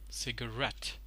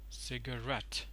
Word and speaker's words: cigarette: cigarette so there is there are two stresses over here one at the first syllable that a seed that takes the secondary stress and one adapt cigarette cigarette so takes the primary